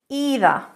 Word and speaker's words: either: Either. Either, but in British English, either. Either. Now, to be honest, either is okay. Words like either and either, actually, it doesn't make a big difference. Because we've been sharing pronunciation for so many years, you can use both.